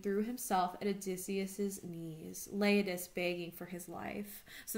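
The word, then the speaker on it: Leiodes: and here is uh here's leiadis sorry i pronounced it wrong the first time i see the accents now so here's laid this um for me it's on page 419.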